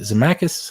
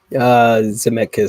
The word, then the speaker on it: Zemeckis: Sure, there's that little fun little cliffhanger, but director-creator Robert is it Zemeckis, how you say it? Zemeckis, something like that.